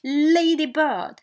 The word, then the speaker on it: ladybird: So in the compound noun we have the rule says that the stress is in the first noun. We have noun 1 and noun 2. Okay, so stress is in the first noun. Take stress on the first noun. Okay, for instance we have ladybird.